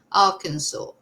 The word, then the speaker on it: Arkansas: At least I'm pronouncing it right now. Arkansas.